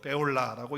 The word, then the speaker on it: 쁄라: 단어가 합쳐서 된다는데, 그리고 뿔라도 베올라라고 이렇게 하는 것이 사실은 더 합당할 수 있겠어요. 자, 어찌 됐든지 간에 지금 헵시바로 뿔라로 이렇게 되었어요.